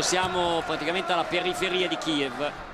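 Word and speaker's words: Kyiv: praticamente alla periferia di Kiev o kiv se lo vogliamo se la vogliamo pronunciare all'ucraina sapete che in Ucraina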